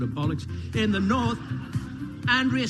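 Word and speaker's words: Andreas: In the north, Andrea still being pronounced Andrus by those who want to sound Manx, even though they aren't.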